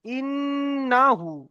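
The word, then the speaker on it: إنه: দেখেন, ইন্নাহু, হামজা নুন জের ইন, গুণনা করতে হবে। কেন, এখানে নুনের ওপরে কি এসেছে, তাসদিদ এসেছে। ইন, নুন যাবার না, ইন না, হা উল্টা পেশ হু, ইন না হু, উল্টা পেশ এসছে, এক আলিফ পরিমাণ টান দিয়ে পড়তে হবে।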